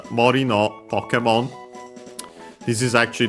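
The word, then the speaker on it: 森: But yeah, Mori, Forest, unaccented.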